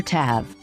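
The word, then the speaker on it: ת: this letter and the letter tab has the sound of t now do you remember another letter that has a t sound it's the letter t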